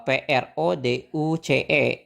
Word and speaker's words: produce: artinya memproduksi Oke memproduksi nah bacanya gimana nih sama aja polanya kita pakai yang Nana tadi Terus si o-nya itu kita pakai bentuk lemahnya jadi bacanya pakaia Jadi PR gitu ya produce gitu produce oke one timeuce Nah